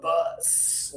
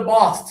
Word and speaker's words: bus: If you don't use any pressure, you're talking about the person who is the leader of the company. So you say, "Oh, I came to school on the bus today. I rode the boss to school." Okay? You rode the boss. The bus carried you to school today. No, you rode the bus to school today. So, the pressure really matters.